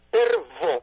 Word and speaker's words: Pervo: especialista que sea como Richard Pervo, se escribe así, tal cual, Pervo, pero con V de Valencia, que han dedicado una